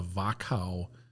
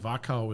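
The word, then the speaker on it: Wachau: day you spend in a place called The vakka Valley and vakka is spelled w a c h Au okay and it's kind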